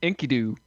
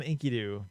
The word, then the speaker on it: Enkidu: See, I like it, like, whenever I say his name, it's Enkidu. Yeah, that's the thing. It's Yeah. it's hard. Everybody calls him Enkidu, but it's I try to remind myself it's Enkidu because it sounds cooler.